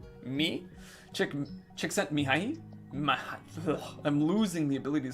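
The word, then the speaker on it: Csikszentmihalyi: Chick sent me an inflatable E. Me. Csiksentmihayli.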